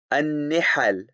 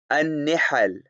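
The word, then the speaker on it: نِحَل: The correct pronunciation given here is al-faslu fi milali wal-ara'i wan-nihal. An-nihal, an-nihal, an-nihal, an-nihal.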